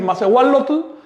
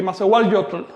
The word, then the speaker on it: masehualotl: Es decir, suena más agradable decir masehual lotl que masehual yotl. Masehual yotl, no, de plano eso no se pronuncia así en náhuatl.